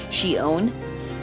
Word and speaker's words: Xion: of course in a min Xian and it's pronounced she honored she owned she's from the game kingdom hearts and the